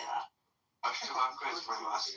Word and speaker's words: Ashtavakra: Ashtavaka. No, there's no K, so it's Ashtavakra.